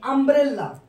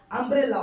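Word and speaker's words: umbrella: যেমন আমি একটা এক্সাম্পল দিই, আমব্রেলা, ইউ এম বি আর ই ডবল এল এ। তাহলে ওর সামনে কিন্তু ইউ আছে, উচ্চারণ কার মতো হচ্ছে? আমব্রেলা, অর্থাৎ আয়ের মতো হচ্ছে, যার জন্য ওর সামনে কি বসছে? এন বসছে।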